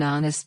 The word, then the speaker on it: honest: Sound-based, she's an honest person. Use an before honest because H is silent.